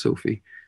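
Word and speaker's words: Sophia: or I-A, I guess, Sophie, but it's still pronounced Sophie.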